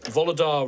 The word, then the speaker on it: Volodar: Now, Volodar, if you were to say that slower and with all the individual letters, spell it out. It is Volo, V-O-L-O-D-A-R. But please, call me Volodar.